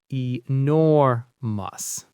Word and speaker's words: enormous: Enormous. The stress is on the second syllable. Enormous. Since nor is the strong part, the ending is just a soft mus. Enormous.